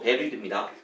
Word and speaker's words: buried: 그렇다고 한다면 이 문장은 사실은 which is buried 이거 발음이요 buried 아니고 buried입니다.